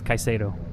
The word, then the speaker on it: Caso: how to say his name didn't we it's kaiso kaiso in 16th shanee Brown in 17th Sheldon